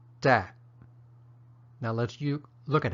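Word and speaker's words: တတ်: verbs and it's pronounced dad which sounds like the word tap but with the final piece ound left off and an abrupt ending and that's the stop tone in Myanmar dad now lets you look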